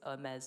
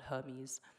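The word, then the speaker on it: Hermès: how to throw a dinner party how to pronounce luxury brands correctly so it's mez not Hermes and it actually was very popular so I've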